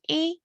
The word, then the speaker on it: y: moment ago in spanish the word for and is e which is just spelt with a y e like when we